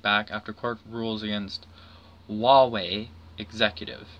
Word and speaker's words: Huawei: China to strike back after Court rules against huawei executive it's both Hua WEEI but it's pronounced Huawei kind of funky I'm just gonna